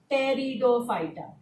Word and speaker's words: Pteridophyta: So, if you look at this third one, Pteridophyta, spelled as Pterido, where P is silent, right? So, we pronounce it as Pteridophyta.